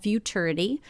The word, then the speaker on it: Futurity: for our website called Futurity. It rhymes with maturity if you need to help remember that.